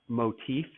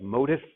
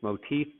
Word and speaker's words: motif: The word is pronounced motif. So even though it looks like motif, it's motif.